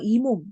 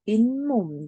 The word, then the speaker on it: 잇몸: 자, 그런데 이 단어 읽으면 그냥 이몸, 자, 이렇게 읽는 거 아니거든? 자, 이 단어 읽으면 실제 어떻게 읽어? 잇몸, 자, 이렇게 우리는 소리를 내.